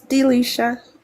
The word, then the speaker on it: Delisha: Is it Denisha or Delisha? It's Delisha. Delisha, okay.